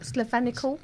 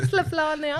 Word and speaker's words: Slovenia: Slovenical? Oh, you're a racist. What? You can't That's even not say it right. You're Slovenical, Slovenia.